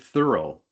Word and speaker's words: Thoreau: 17 years old, and it's from Henry David Thoreau. By the way, Hmm. that's the correct pronunciation of his name I got from his great great granddaughter in Concord, Massachusetts years ago.